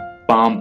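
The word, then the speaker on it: palm: पाम, यहां पे S silent है, ठीक है, आपने इसे सॉरी एल साइलेंट है, आपने एल को नहीं पढ़ना है, आपने इसे पाम पढ़ना है।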